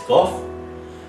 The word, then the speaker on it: Van Gogh: And what I'm going to read about is Vincent Van Gogh, or Vincent Van Gogh, so I'll pronounce it as Gough.